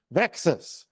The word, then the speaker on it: VEXAS: And so we came up with this name VEXAS, which rhymes with Texas.